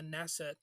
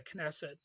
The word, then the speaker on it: Knesset: the 17th speaker of the nesset or the knesset I've heard it pronounced both ways so if you want you can correct me on that but I I've heard the K be silent and I've heard it not be silent but anyway he's he